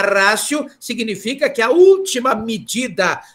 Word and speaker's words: ratio: é a última rácio na verdade escrita é a escrita é a última rádio né ultima ratio mas é é pronunciado última rácio porque ela Latim é última rácio significa que a última